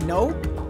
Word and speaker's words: nẫu: Vùng Bình Định Phú Yên không phân biệt rạch ròi cách phát âm, vậy nên nậu còn được đọc thành nậu và sau này biến thành nẫu.